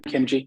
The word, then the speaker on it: Khimji: Yeah, Khimji, like kimchi, but Khimji.